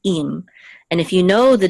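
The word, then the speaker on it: עם: And one of them is spelled with an ayin, it's actually im, and the other one is means with. Okay, so it's really im.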